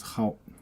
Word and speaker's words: 蒿: what it is okay Hal uh you pronounce it Hal so next one way